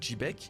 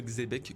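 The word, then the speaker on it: Xebec: se prononce chbeek et dans l'épisode 958 en VF sang Goku prononce également le prénom de rox avec un J ce qui donne quelque chose comme jbec Herx jbec donc oui vous avez raison je le prononce peut-être pas très bien en l'appelant jebec c'est plus jbec mais c'est toujours plus précis et cohérent que le xbec que vous voulaz tant m'entendre prononcer voilà c'était la petite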